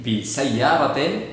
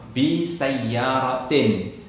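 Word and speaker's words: بسيارةٍ: Bi sayyaratin, bukan bi sayyarati. Kenapa? Karena tidak ada alif lamnya. Oke, kalau ada alif lamnya, bi as-sayyarati, bis sayyarati. Karena tidak ada alif lamnya, bi sayyaratin.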